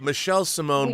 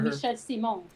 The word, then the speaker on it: Michel Simon: Castle Grayskull, Michel Simon. What would that be pronounced in French? Is there an E at the end or no?